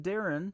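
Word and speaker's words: Daryn: Your name is D-A-R-Y-N, Darren, spelled a little bit differently, and then is.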